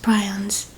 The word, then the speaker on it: prion: Variant Creutzfeldt-Jakob disease is a rare fatal brain condition caused by infectious prions. Or prions. I don't know how to pronounce that. Prion. Okay, prion.